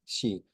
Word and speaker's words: Xi: name his family name shei with an X and that's like an sh sound um and then the